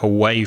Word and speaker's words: aweigh: But that's not AWAY, is it? Like away from here? No, it's spelled AWEIGH, away.